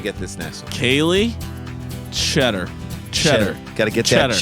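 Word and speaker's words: Tschetter: Kaylee, T-S-C-H-E-T-T-E-R. Cheddar. Yo, man, you got to get that Something cheddar. is silent. Is it the Cheddar. T or the Cheddar. S or the Cheddar. CH? I think it's cheddar.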